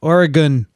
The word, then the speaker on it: Oregon: in the state of Oregon. Okay, I said it right. Oregon. Not Oregon, but Oregon. Okay, it's the gun part.